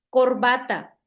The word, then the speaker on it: corbata: Entonces, por ejemplo, la siguiente palabra es corbata. Entonces, corbata. ¿Dónde tiene la sílaba tónica corbata? En la En va. ¿En qué sería la penúltima sílaba?